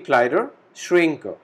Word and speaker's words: Kleiderschränke: We have extra E at the last and A is with umlaut, which has a pronunciation of A, very similar to English. So we call it die Kleiderschränke, plural form.